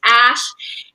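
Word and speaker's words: Æ: letter X and then the AE is pronounced ash a 12 was my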